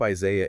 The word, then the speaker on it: Isaiah: It is spelled I S A I A H. There is an H at the end of the word. That English H is a phantom letter.